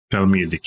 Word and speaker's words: Talmudic: Boy, that's a word I write, but I don't have to pronounce it very often. You might know, is it Talmudic? Talmudic, yeah.